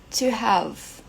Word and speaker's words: have: outro verbo também have to have ó esse e aqui não é pronunciado a gente termina lá no V have had had mais